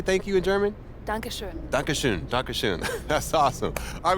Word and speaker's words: Dankeschön: Dankeschön.